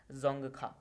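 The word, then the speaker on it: Dzongkha: की आधिकारिक भाषा है जोंगखा। यहाँ पे डी साइलेंट होता है, तो जोंगखा भूटान की ऑफिशियल लैंग्वेज है।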